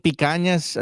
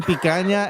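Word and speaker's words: picanha: I I was just in Rio like two Sundays ago drinking picas. No, not drinking picas. Eating picana and drinking capirinas. Boom. Boom. I pronounced those correctly.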